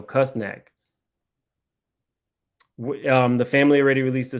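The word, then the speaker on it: Küsnacht: I can't pronounce her home, but it's spelled Ksnacht, so Kusnak.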